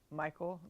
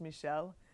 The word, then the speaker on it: Michel: Michelle Odin if you're American or Texan you might say Michael but it's pronounced Michelle oh that's yeah so